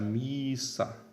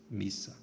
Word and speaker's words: missa: Apenas observando que o fato de a sílaba ser longa por posição não muda o fato de que o I aqui nessa sílaba é um I breve. Portanto, nós não devemos pronunciar missa. A pronúncia continua sendo missa.